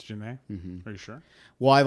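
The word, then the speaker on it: Jhené: Is that how you pronounce it? Yeah, Janae Aiko. Jenny. Yeah, so Janae Aiko. Janae Janae or Aiko. Jenny? Janae. It's Janae.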